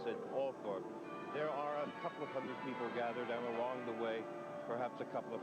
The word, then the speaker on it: Althorp: And here in this village, they do pronounce it Althorpe.